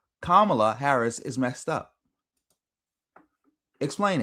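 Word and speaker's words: Kamala: Nobody can still to this day explain what Camala Harris act um Camala I'm hopefully I'm saying it right. Kamla No. No. It's Kamla.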